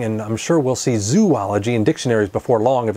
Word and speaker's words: zoology: in the same vein it makes sense to pronounce the separate parts of this word separately zo andology making zoology if you ask zoologist